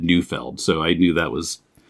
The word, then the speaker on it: Neufeld: from Mocha 5 years ago, and you said Neufeld, so I knew that was how you pronounce it. Yeah, but whenever I'm in Europe and people pronounce it Neufeld, I can't really correct them because that is